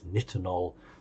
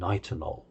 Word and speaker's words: nitinol: And those of you who've done your research, now we say it differently, it's nitinol and nitinol, American and British sayings, but we call it memory metal.